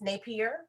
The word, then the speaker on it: Napier: And when you talk about, so I love that so his name is pronounced Napier. That's how I pronounce it?